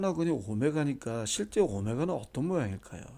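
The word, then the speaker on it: omega: 이거 W가 아니라 이거 읽을 때 오메가라고 읽어요. 오메가. 오메가라고 읽습니다. 이제 오메가는 이제 그리스 문자의 그 알파벳이죠. 이게 오늘날 이제 영어 알파벳의 W로 바뀐 건데 이거 읽을 때 오메가라 읽어요. W가 아닙니다.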